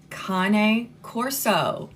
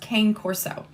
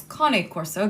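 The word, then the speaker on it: Cane Corso: he's a cone Corso cone Corso yes that's how it's pronounced it's not pronounced Kan Corso it's cone Corso because it is Italian um but that's how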